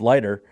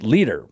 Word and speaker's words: Leiter: But there was a guy, friends of ours too, Travis and myself, Jeff Leiter. We thought his name was Jeff Leiter, but it was actually pronounced Leader.